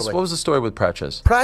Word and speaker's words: Praça: What was the story with Praça? Praça, they were Praça Praça, is that how you pronounce that?